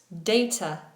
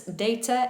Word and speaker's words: data: Data, chef excellence. Data in British English, data sometimes in American English.